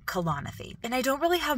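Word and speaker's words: Kalanithi: becomes air by Paul kalanathy that's how you pronounce his name colonophy and I don't really have much to say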